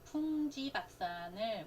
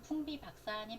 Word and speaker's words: 풍비박산: 인쇄, 신구파의 종교적 대립으로 풍지박산이라고 되어 있는데, 주구장창처럼 풍지박산을 우리는 잘못 발음하고 있죠. 원래는 뭐예요? 풍비박산입니다. 그래서 이 비읍과 지는 원래 이제 지읒이 더 발음이 편하거든요. 그래서 풍지박산 이렇게 변형돼서 많이 쓰이는데, 실제로는 풍비박산이 맞습니다.